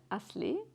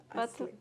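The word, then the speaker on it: Aslı Bolayır: uh ashley aslibolayer i say it in in english or to people to understand because when i pronounce it in turkish they can't understand my name it's very difficult to hear it but it's like that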